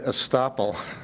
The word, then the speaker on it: estoppel: research is the word estoppel sounds like stopple but it's spelled with an e could you care to give me a definition of what you think that estoppel means mr.